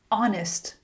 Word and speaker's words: honest: Honest.